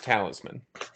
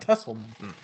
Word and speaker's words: talisman: Yeah, and it's talisman. Oh shit, not Tesselman.